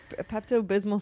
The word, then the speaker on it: Pepto Bismol: it right Pepto bismal you're not familiar with Pepto Bismol for yes but I don't know how to pronounce the second word bis Pepto Bismol you